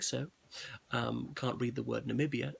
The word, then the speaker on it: Namibia: Can't read the word Namibia, says Nambia. All right, he misspoke. He mispronounced things.